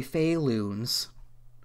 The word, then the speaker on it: Faloons: Faloons, spelled like balloons, but instead with an F. And one L for whatever reason. So it's technically Faloons. Alright, Faloons Family Fun Center.